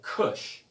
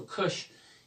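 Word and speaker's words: כוש: related to ethiopia or in the hebrew we call it kush okay so kush is is how you say in hebrew and once we get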